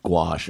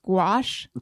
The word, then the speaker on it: gouache: acrylic Tony experience with gouache no this is it g a that was my question G Au u c h e I think oh oh like go squash I I might be